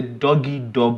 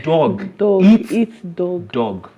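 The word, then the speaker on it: dog eat dog: It's a doggy dog world. But in actual fact, it's not a doggy dog world. Okay. Whatever your mind is, it's a dog eats dog world. So that's the right way to say it.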